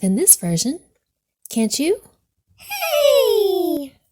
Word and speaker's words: Hey: Hey, pronounced ha, or silent.